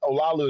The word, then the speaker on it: Olaolu: But Olaolu is how you say my name.